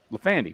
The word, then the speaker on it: Lafandi: By the way, that is the correct way to say your name, right? Lafandi? Lafandi.